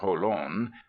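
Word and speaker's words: Jolon: 20 Pleasant miles to Holan they pronounce it holon where is the nearest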